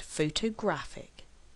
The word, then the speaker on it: photograph: what does this mean photograph has three syllables and we actually stress on the first syllable photograph photographer has four syllables